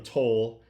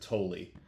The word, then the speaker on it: Tolle: Uh, but Payton Tolley, I keep calling him Tol and I'm sorry about that because I've seen the announcers and they definitely pronounce it Tulli.